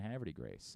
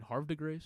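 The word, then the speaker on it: Havre de Grace: lifelong Orioles fan because of his family and Haverty Grace and I guarantee nobody else on the team knows how to pronounce Haverty Graves somebody said to Jackson holiday last night hey did you mean Harve De Grace yeah Harvard Harvard I mean that's by the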